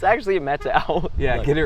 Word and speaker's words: Methow: with alexa probably the first time i said methyl she's like it's actually a meta out yeah get it right get it right it